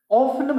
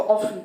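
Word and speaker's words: often: ऑफन, यहाँ पर T silent होता है, इसको ऑफन पढ़ते हैं, ऑफन।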